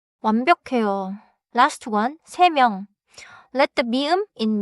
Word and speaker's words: 세 명: Say 1시, 두 개, 세 명. Also, do not make 두 개 into 두께. 하나 더 기억하세요. 명 begins with 미음. So 세 명 should not have a hard stop between 세 and 명.